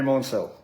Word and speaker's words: Maunsell: finally met up with Andrew Maunsell. That's the correct pronunciation. Andrew Maunsell.